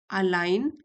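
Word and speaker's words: align: When your daily actions अलाइन ji silent है।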